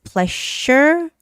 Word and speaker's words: pleasure: Pleasure, that's the voiced sound of the SH sound, right? So it's pleasure, but pleasure with a sound.